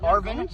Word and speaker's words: ARVN: That's how it's spelled. It's said Arvin, not ARVIN.